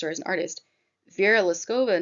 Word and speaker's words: Liskova: oh by the way the artist is Vera liskova it's spelled l-i-s-k-o-v-a and as a fine artist or as an artist Vera lascova not it's not necessarily looking to solve a